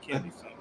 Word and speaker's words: Chennedy: It's Kennedy. I thought it was. But she spells it C-H. It's funny. Okay. Yeah. Maybe that's why I thought it was Cheyenne, because it's the way it's spelled.